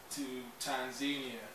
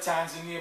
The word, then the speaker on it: Tanzania: Maybe then we're flying to Tanzania. Over here they call it Tanzania, but every African I met pronounces it Tanzania.